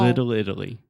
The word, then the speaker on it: Little Italy: Little Italy. Little Italy. Pretty good. One more time. Little Italy. Little Italy. Yeah. So we have the I sound.